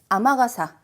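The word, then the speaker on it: 雨傘: 자, 그리고 저 아까 하신 거 중에서 참고로 아마가사 저 비전용 우산이란 얘기를 하고 싶을 때는 아메가 아닌 아마가사라는 표현도 있습니다. 그죠?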